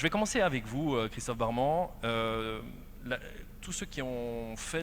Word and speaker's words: Barman: Et nous avons Christophe Barman, le cofondateur de Loico. On dit barman, mais ça s'écrit barman, hein, j'avoue.